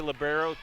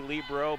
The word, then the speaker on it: libero: two that would say libero two that would say Libro back to a libero back to a Libro so we'll call it both was a dig by